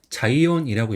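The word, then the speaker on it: 彩艶: 그다음 이름은 이제 한자는 채색체 고용이 합쳐서 자이온이라고 읽어요. 그래서이 채색체 같은 경우는 이제 보통 아야 또는 이제 사이라고 있는데 여기서는 자이라고 읽어요.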